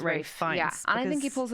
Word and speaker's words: Ralph: I'm actually happy that Ray fins pronounce it Ray and I think he